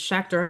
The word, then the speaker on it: Schachter: told her students Schachter rhymes with tractor, so.